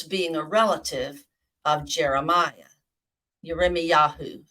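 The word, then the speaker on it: ירמיהו: a relative of Jeremiah yarime Yahoo is how you say Jeremiah in Hebrew I tell my uh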